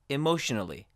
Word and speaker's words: emotionally: Emotionally ends with an N, so we do pronounce the A as a schwa. Emotionally.